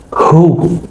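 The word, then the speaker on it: هو: Jadi al-aslu fihi hu.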